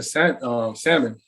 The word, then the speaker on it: salmon: And then Marky started cooking salmon. You know, I'm sorry, I've already pronounced the L, but I'm terrible at it.